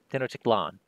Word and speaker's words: Tenochtitlan: It is Tenochtitlan. After the first Tenochtitlan location enters play by exploring... Or Titlan, sorry. Emphasis on the A. Tenochtitlan.